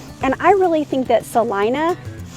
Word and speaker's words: Celina: So I'm Tiffany with Life in Dallas Fort Worth, and I really think that Celina, spelled Celina, but we pronounce it Celina, is one of the best kept secrets.